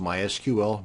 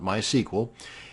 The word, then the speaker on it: MySQL: MySQL databases and yes it's pronounced MySQL not MySQL and we've got the